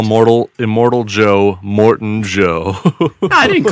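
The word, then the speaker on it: Immortan Joe: Instead of like immortal Joe, you Yeah. You just called him Morton Joe. Morton Joe. Yeah. You know, just like the hospital.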